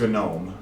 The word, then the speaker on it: GNOME: ubuntu desktop which is called gnome and yeah you pronounce the g because whatever um which